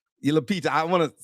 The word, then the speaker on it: Lupita: Apparently he cast the beautiful um golly Lita Lupita.